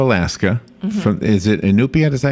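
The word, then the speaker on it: Iñupiat: From Is it Inupiat? Is that how you say it? Yes. Inupiat?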